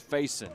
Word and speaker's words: Fayson: I mean, Yeah, we got we got corrected. It's Fayson. Fayson, I'm sorry. Mason. Fayson. Okay, Fayson. There we go.